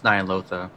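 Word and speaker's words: Ny'alotha: It's Nyalotha.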